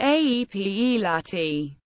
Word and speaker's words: Appalachia: of Appalachia is pronounced a p e Lati but both with a third syllable like the LA in latch this pronunciation is favored